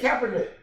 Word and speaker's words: Kaepernick: Am I mispronouncing the name? Yes, Kaepernick.